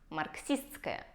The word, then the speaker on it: марксистское: И наше «с-т-с-к» превращается в «ск». И получается марксистское.